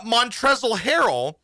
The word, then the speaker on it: Montrezl Harrell: not the mavericks but montrezl harrell um silent l uh montrezl harrell has now turned me